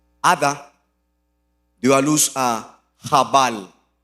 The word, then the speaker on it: Jabal: Ada dio a luz a Jabal. pronuncian Yabal, quien fue el primero de los que crían animales y viven en carpas.